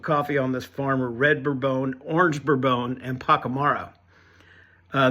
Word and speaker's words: Bourbon: this coffee um in the coffee world it's pronounced bbone and it refers to the varietal of coffee